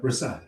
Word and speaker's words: Rahsaan: am I, yeah, let me say it right. Rahsaan, did I say that right? Yeah. Rahsaan.